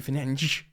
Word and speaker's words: Fernandes: Ben Jacobs writes this: Manchester United star Bruno Fernandes, because it is pronounced apparently Fernandes, has been warned by Saudi Pro League admirers Al Hilal.